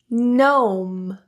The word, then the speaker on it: gnome: When you see GN and GH combinations in a word, you can assume that the G is silent.